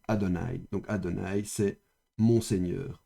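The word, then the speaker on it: אֲדֹנָי: manière erronée et profane, on écrit le tétragramme comme ceci, mais on le prononce autrement. Et donc quand on voit normalement ceci le tétragramme, on doit lire normalement ceci. Adonai.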